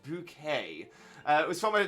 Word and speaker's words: Bucket: sag uh is Gator the daughter of Mrs bucket it's bouquet it's bouquet good reference there please